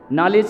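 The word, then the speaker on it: knowledge: नॉलेज की spelling काहे से शुरू होती है? के से और बोला क्या जाता है? नो।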